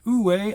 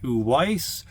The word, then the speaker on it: Uwais: ouway collection that's right you heard properly it's ouway I know some of y'all out there are pronouncing it uise or o if you check on the Wikipedia page uh at the pronunciation part it does say o way and it tells you how to say it I know a couple